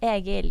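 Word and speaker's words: Egil: Yes, Agel. Yes. I've been playing. Okay, so that's the first time I've heard her pronounce it.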